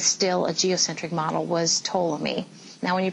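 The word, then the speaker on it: Ptolemy: a geocentric model was toomi now when you pronounce toi's name the p is silent as I understand it okay so toam is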